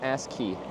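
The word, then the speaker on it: ASCII: A s I is pronounced as key. But if I say ask key, then you guys are going to make fun of me.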